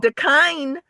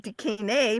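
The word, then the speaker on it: da kine: And the kind it's pronounced the kind and not decay because it's like the kind.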